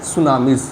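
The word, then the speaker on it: tsunami: आगे हमारा है सुनामीज़। ठीक है? सुनामी ध्यान देना। यहां पे टी से स्टार्ट होता है। यहां पे टी लेकिन क्या होता है? साइलेंट होता है।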